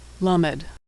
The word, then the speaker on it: Lamed: Lamed is pronounced L as in lucky. Lamed.